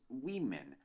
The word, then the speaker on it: women: acontece é o seguinte nós temos woman e temos Women a diferença que woman está no singular Women está no plural então sim a pronúncia você muda completamente por estar no plural tem aquela música inclusive